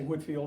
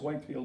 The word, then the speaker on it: Whitefield: a little boy but I learned to say Whitfield and I think that printer about proper pronunciation is Whitefield but nevertheless Benjamin Franklin